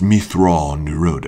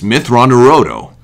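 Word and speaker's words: Mitth'raw'nuruodo: I said Anakin said Mithrandir oh no it's pronounced me thrall nirodh oh yes Mithrandir odo me throne new road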